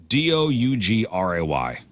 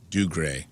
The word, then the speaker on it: Dougray: Scottish actor, how would you pronounce this? Seamus. Dougray. Dougray. Dougray.